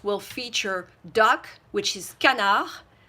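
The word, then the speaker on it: canard: feature duck which is canna we don't pronounce the D so it's canna and then goose which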